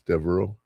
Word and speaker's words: Devereaux: Reaux is how it ends, Devereaux. And it's French. It's not OGH.